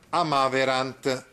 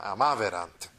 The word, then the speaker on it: amaverant: nel più che perfetto la terza persona plurale è sdrucciola, cioè l'accento va sulla terzultima, amaverant.